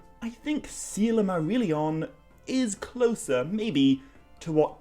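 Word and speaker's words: Silmarillion: are consistently told that the letter i is pronounced like an e so it's not isildur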